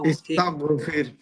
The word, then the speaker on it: استغفر: তাগফির, তাগফির তাগফির তাগো, মুখটা গোল করতে হবে, ইস্তাগফির।